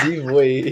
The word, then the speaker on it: Zivoy: Yeah, because you keep saying Zivoy. It's Zivoy. Yeah, I'm Zivoy, yeah.